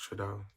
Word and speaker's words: Trudeau: Oh, it's pronounced Trudeau.